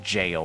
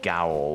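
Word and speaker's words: gaol: I never knew until Elden Ring that apparently that is pronounced jail, not gowl, or however I pronounced it before. I did not know that was another word for jail.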